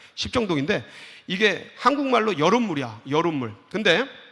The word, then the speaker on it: 십정동: 발음 잘해야 돼. 십정동인데 이게 한국말로 여름물이야.